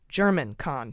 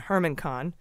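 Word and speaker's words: Germán Khan: It's been pointed out to me by someone in the know that it's pronounced German Kahn, not Hermann Kahn.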